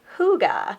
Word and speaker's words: hygge: my email from Sirk this is pronounced hygge which means cozy and